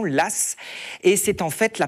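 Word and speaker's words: Law: à un Banquier Lass alors ça s'écrit l a mais on le on le dit bien de cette façon Lass et c'est en fait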